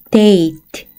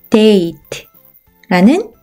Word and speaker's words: date: 다음 단어 E는 발음이 나지 않고 D는 D, A는 A, T는 T. 한 번에 읽으면 date, date라는 단어가 되죠.